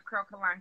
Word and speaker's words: Curlkalon: Spell it, child. I don't know. That's okay. It's Curlkalon.